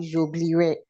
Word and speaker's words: j'oublierai: In many instances, the E before the R is silent, especially in verbs ending in IRE, RER. Okay. Je, so it's not j'oublierai.